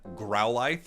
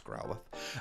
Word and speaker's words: Growlithe: thank you for everyone correcting my pronunciation on growlie I found out I was saying that wrong it's Growlithe uh and Arcanine ex